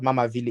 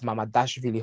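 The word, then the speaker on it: Mamardashvili: It's not Mamavili, it's Mamadashvili Hossam.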